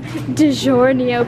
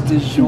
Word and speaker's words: DiGiorno: So we're getting some DiGiorno pizzas because they're the best. She can't pronounce DiGiorno. It's DiGiorno. DiGiorno.